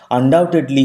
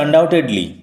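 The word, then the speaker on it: undoubtedly: আনডাউটেডলি হি ওয়াজ এ born ব্রহ্মজ্ঞানী। ডাউট তার থেকে আসছে আনডাউটেডলি, ডাউট সন্দেহ। B will remain silent, B এর উচ্চারণ হবে না, বানান উচ্চারণ লক্ষ্য করো।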